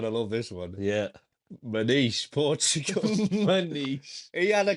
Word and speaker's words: Maniche: Again, is that how you say his name? Maniche. It is Maniche.